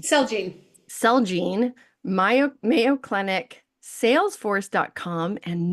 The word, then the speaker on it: Celgene: Jude Medical, Celgene, sorry, how do you say that one? Celgene.